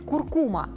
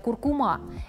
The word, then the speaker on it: куркума: Есть такая пряность – куркума. Многие хозяйки готовят с ней вкуснейшие кулинарные шедевры. Часто произносят название специи неправильно, говорят «куркума». Это латинское слово, и ударение падает на второй слог.